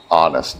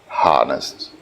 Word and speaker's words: honest: Um you said to be honest uh he said um honest the h is not pronounced. Uh it is a honest not honest.